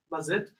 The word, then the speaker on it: Mazetto: So yes, my name is Mazetto, and if you're wondering how you can actually pronounce it the Portuguese way, is Mazetto.